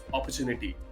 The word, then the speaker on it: opportunity: Well, अपॉर्चुनिटी गलत है। आप जब इसे बोल रहे हो तो इसका प्रोनाउंसिएशन, एक्चुअल प्रोनाउंसिएशन होता है अपॉर्चुनिटी। जी हाँ, सही सुना आपने, अपॉर्चुनिटी। हालांकि वो ओ साउंड, जो ओ लेटर है ना, उसकी वजह से अक्सर लोग कंफ्यूज हो जाते हैं और उनको लगता है कि ओ है तो अपॉर होना चाहिए, while the actual pronunciation is opportunity.